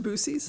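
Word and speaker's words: Buc-ee's: yeah well what we love bies it is a magical place pronounced booies which is really just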